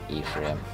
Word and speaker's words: Ephraim: I don't know, I always pronounce it the Hebraic way. I think that's a Jesus school problem that they beat into me. Ephraim. Ephraim sounds cooler, but Ephraim, I think, is the correct pronunciation.